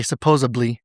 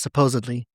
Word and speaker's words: supposedly: But we always say "supposably." But the word the correct pronunciation is "supposedly."